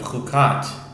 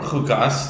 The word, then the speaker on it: Chukat: This is reishon the first reading of our weekly Torah portion of kukat or kukas depending on your pronunciation.